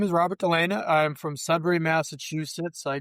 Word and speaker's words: Delena: Robert Delena.